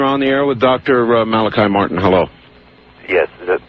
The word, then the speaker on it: Malachi: Father Malachi, is it? Yes. Yes. Okay, pronounced it right.